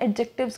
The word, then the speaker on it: adjective: तो देखिए, पहली बात तो ये कि एडजेक्टिव होता है, एडजेक्टिव नहीं होता, राइट। डी साइलेंट होता है इसमें, राइट। तो आप एडजेक्टिव कहेंगे, ओके।